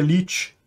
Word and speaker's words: 1337: para quem não sabe 1337 se pronuncia lit é uma coisa como